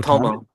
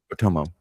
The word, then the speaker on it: Otomo: Oh, how do you pronounce it? Otami? Otomo. Otomo.